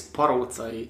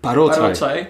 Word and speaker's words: Paroczay: Actually, the way how we pronounce my last name is Paroczay. Paroczay.